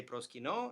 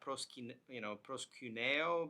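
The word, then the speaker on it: προσκυνῶ: That's why I say proskino and not proskuneo, because it's just, again, I use modern Greek pronunciation, and because that ending typically gets contracted.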